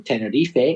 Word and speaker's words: Tenerife: Islands, all the way from Tenerife, or Tenerife, as you say in Spanish. Zebin from Tenerife has sent this message. Hello, Reza. Hello, Craig. This is Seven from Tenerife in Canary Islands.